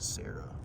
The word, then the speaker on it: Sera: so whatever and then Sarah is spelled s-e-r-a not Sarah like name come on some aftermarket